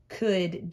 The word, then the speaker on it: could: with a capital letter could has this silent l in there that does nothing could jill is a